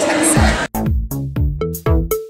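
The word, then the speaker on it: Teksen: It's spelled T-E-K-S-E-N. Texan.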